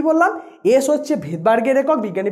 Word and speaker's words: Svedberg: হচ্ছে ভেদবার্গের একক, বিজ্ঞানী ভেদবার্গ আবিষ্কার করেছিলেন। ভেদবার্গের নামটা শুরু হয় মানে নামের স্পেলিংটা হচ্ছে SVEDBERG, যেহেতু ফার্স্ট লেটার এস সেই অনুযায়ী এসটা এবার উচ্চারণের ক্ষেত্রে যখনই আমি প্রোনাউন্সিয়েশন করি তখন এসটা সাইলেন্ট থাকে, তাই উচ্চারণের ক্ষেত্রে আমরা